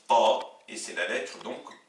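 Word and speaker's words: ط: Troisième paire de lettres, on a la lettre ta, le T, l'équivalent du T français, qui s'oppose au T emphatique qui se prononce ta, et c'est la lettre donc le ta.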